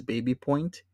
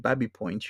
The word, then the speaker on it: Baby Point: it says this says Baby Point. And I mean, you could say Baby Point, but colloquially, if you live in the Runnymede area where you have Babby Point, you pronounce this as Babby Point.